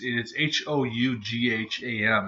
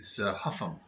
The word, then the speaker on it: Hougham: Well, it's Hougham. It's like Homan, but it's Huffam.